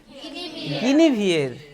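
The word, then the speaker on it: Guinevere: সুন্দরী একটি মেয়েকে, তার নাম হচ্ছে কি নাম, গিনিভিয়ের, গিনিভিয়ের, এখানে কিন্তু উচ্চারণে গিয়ে পরের দিন অনেকেই মুখ থুবড়ে পড়বে।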